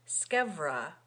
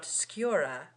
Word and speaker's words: scevra: to tell you that the pronunciation of that word, scevra, with a V, and not sciura, with a U, because it is a contraction of scavera. It remains to be seen which of us is wrong. You, madam, according to Aristotle, who makes scevra rhyme with persevera, and the rhyme would